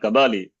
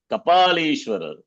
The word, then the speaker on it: Kapalishwara: It's not Kabali. Kapalishwara.